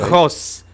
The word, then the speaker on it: Jos: I called him Gauss, so I got that one wrong. Gauss, okay. Jos. You gotta get the epiglottis working there, Lenny.